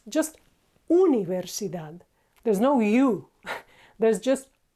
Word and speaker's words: Universidad: don't know University no in Spanish it's not Universidad it's just Universidad there's no you there's just so universi done